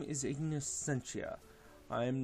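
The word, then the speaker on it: Scientia: Then Ignis Sentia. I knew the Ignis part. I wasn't sure about the Sentia part. My name is Ignis Sentia. I always forget if it's a hard C or a soft C.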